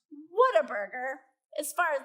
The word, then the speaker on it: Whataburger: here even know what whataburger is oh fantastic like two people okay it is basically the world's best fast food place it's in southern states and you can see it's pronounced what a burger as far as like